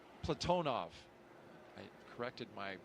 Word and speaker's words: Platonov: Our crew today, commander Zena Cardman, pilot Michael Frink, Jaxa astronaut Kimmy Aayoui, and Ross Cosmos cosminaut Alleg Platinoff Platonov. I corrected my pronunciation yesterday and I slipped back into crew walkout has commenced on schedule.